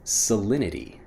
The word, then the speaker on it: salinity: of the conversation next salinity salinity when I'm pronouncing it fast salinity even though again we have that T sound salinity becomes salinity when we're pronouncing it quickly what's the salinity of